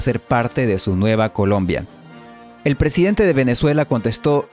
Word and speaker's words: Columbia: En inglés, este nombre se escribe de las dos formas, con U y con O, pero siempre se pronuncia exactamente igual: Colombia.